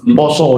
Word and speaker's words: Pasa: yaitu bulannya Pasa, PASA, Poso dibacanya.